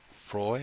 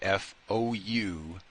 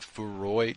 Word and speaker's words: Freud: She I guess said FOU-ROID, which I guess is not Freud. Yeah, I guess that's not how you say it.